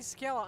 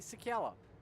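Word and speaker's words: Czekala: growing team, contact Marty Sakala on Facebook or Twitter at Marty Sakala. That's spelled C-Z-E-K-A-L-A.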